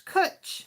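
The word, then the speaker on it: cwtch: said first of all she said it wrong it's cut it's kutch she's got a coach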